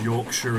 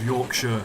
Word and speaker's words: Yorkshire: I can't remember which video it was I pronounced Yorkshire as Yorkshire like all my life I've always called Yorkshire Yorkshire but then for some reason I'm sat in